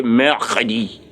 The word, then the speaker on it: mercredi: It's the R you know that he's pronouncing. And so I want you to master the pronunciation of R very well.